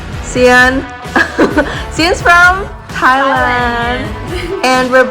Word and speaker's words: Sian: Okay, so Sian, am I saying it right? Yes, I'm Sian.